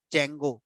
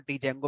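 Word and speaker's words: Django: अगर आपसे कहूं कि जैंगो जिसको कुछ लोग डी जंगो प्रोनाउंस करते हैं उसका सही प्रोनाउंस जंगो है डी जे ए एन जीओ तो जंगो जो वेबसाइट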